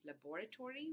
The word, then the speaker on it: laboratory: Some of you could also have, in slow speech, you can also say laboratory, laboratory, with like your stress on the second syllable, and therefore you get five syllables instead of four. But very often in rapid speech, you actually delete the vowel between the b and the r, and then you get only four syllables in this particular word.